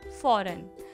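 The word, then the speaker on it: foreign: तो हमारा next word होगा फॉरेन। फॉरेन मीन्स होता है विदेश, जिसमें G है वो क्या है, साइलेंट।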